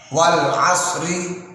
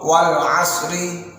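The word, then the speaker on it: والعصر: Nah, seringkali terbaca wal asri ketika waqaf, wal asri. Nah, ini kurang tepat. Atau wal asr, ini juga kurang tepat. Mengapa? Karena dalam kaidah tajwid ketika waqaf maka huruf tersebut tetap dibaca, namun dibaca mati atau dibaca sukun. Nah, contoh wal asri tidak seperti itu, tapi wal asr, wal asr setelah huruf shad langsung ro-nya tebal.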